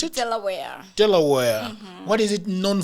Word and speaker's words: Delaware: Delaware, how do you pronounce it? Delaware.